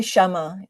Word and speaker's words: Kshama: Kami Kamasha. You can just You can just say Shama just Thank you. Thank you. Pretend the K doesn't exist.